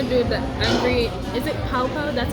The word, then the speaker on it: Pao Pao: Is it Pao Pao? That's how it's pronounced.